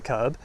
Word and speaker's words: kerb: So this is the other curb. This is, in England, this is spelled K-E-R-B. Pronounced the same.